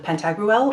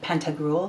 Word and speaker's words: Pantagruel: But the point is, I've made an Oracle deck that I've called the Dreams of Pantagruel, or the Dreams of Pantagruel, depending on your pronunciation.